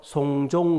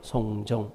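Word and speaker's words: 送钟: 시계를 주다가 중국말로 송종 그래요. 송종. 발음도 똑같아요.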